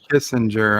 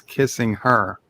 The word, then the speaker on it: Kissinger: It's not Kissinger. I've been mispronouncing his name. It's a space kissing her. Kissing her? Yeah.